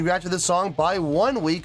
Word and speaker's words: ONEWE: name Mr clear enough the band's name is pronounced uh by mazing up the English words one and we so their name is pronounced by saying one week I I I got